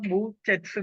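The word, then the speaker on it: Behçet: പറയുന്നത് ബി ഇ എച്ച് ഇ ടി എന്നാണ് അതിന്റെ ഉച്ചാരണം ബൂച്ചസ് ഡിസീസ് എന്നാണ് ഒന്നുകൂടെ പറയാം സാർ ബി ഇ ബി ബി ഇം എച്ച് സി ടി എച്ച് സി ഇ ടി ബി ഇ എച്ച് സി ഇ ടി അതിന്റെ ഉച്ചരണം ബൂ ചെറ്റ്സ് ഡിസീസ് എന്നാണ് ബൂച്ചെറ്റ്സ് ഡിസീസിനെ കുറിച്ച് സ്റ്റൊമറ്റൈറ്റിസിനെ കുറിച്ച് പറയുമ്പോൾ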